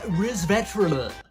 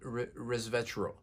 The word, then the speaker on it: resveratrol: is super bitter next we have resverter that's how you pronounce it resverter RIS of resverter res